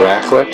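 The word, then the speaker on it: raclette: Hub of Zurich this dish is called the racklet and it's spelled r-a-c-l-e-t-t-e apparently it's so local Swiss favorite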